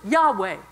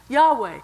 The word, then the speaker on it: Yahweh: a transliteration of Yahweh Yahweh is the pronounceable form of y-h-w-h which was intentionally an